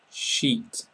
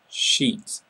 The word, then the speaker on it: sheet: a rude word so make sure that you make the e sound and make it quite long sheet sheet fishbone fishbone so it's